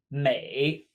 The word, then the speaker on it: 每: on this in appearance next we have Mei Mei just like beautiful exact same May 8th